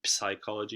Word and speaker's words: psychology: the way psychology and you don't pronounce the PIP psychology you don't do this look at how here